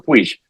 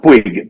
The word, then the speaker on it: Puig: el doctor Mario Alonso Puig. Nosotros acá decimos Puig, pero allá se pronuncia Puig. En España. Aquí se pronuncia Puig porque es de origen catalán.